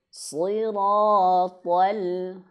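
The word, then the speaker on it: صراط: Siratal, sama nih hukumnya, cara bacanya seperti di ayat yang 6 tadi ya. Siratal, alnya jangan sampai tebal.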